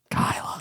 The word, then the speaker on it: Gailla: Yeah, my artist name's Gailla. My name's Gabi. Nailed it. I knew I got the pronunciation right.